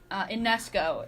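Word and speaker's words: Ionescu: Sabrina Ionesco is how you pronounce her last name.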